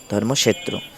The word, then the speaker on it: ধর্মক্ষেত্র: যেমন সংস্কৃত শব্দ ধর্মক্ষেত্র ধর্মক্ষেত্র সংস্কৃত এটার উচ্চারণ হবে ধর্ম ক্ষেত্র ভেঙ্গে ভেঙে বলতে হবে অনেস্বর এর উচ্চারণ হবে